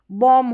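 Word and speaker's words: bomb: एम बी को यहां पर बी जो है जैसे कि बॉम्ब होता है। वहां पर बी साइलेंट होता है। बॉम्ब ब नहीं बॉम म साउंड तक।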